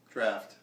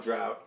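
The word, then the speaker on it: draught: Draft. Draft? It's called drought, but it's pronounced draft.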